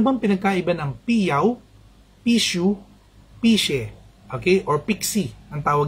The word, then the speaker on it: pixie: Pixie, kasi P-I-X-I-E. Pero ang basa ron, pishe, hindi pixie. Kung may nagsabi sa inyo, pixie, or Jing, mali po yun. Mali yung pronunciation. Okay? P-I-X-I-E, ang basa ron, pishe. She, ang X-I-E kasi is she, ang basa sa amin.